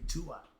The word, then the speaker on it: Duat: So yeah, I laugh because I hear people pronounce it. It should be Tuat.